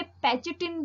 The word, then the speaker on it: pachytene: अब हम बात करेंगे पैकेटिन की। इसे पैचेटिन भी प्रोनाउंस कर सकते हैं, ठीक है।